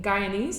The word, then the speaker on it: Guyanese: You also mentioned that being Guyanese, is that how you pronounce it?